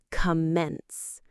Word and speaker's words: commence: It rhymes with simple words you might know like sense or tense.